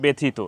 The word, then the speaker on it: ব্যথিত: পরে রস ইকার আছে জ ফালার পরে রস ইকার থাকলে সেখানে এ এর মত উচ্চারণ হবে না সেখানে একারের মত উচ্চারণ হবে ব্যথিত এই এককারের মত উচ্চারণ